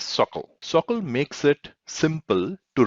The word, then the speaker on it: SOQL: salesforce object query language it is pronounced as circle circle makes it simple